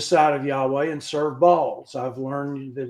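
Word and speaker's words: Baal: of Yahweh and sered balls I've learned that it's not Bale it's supposed to be pronounced ball and that's a hard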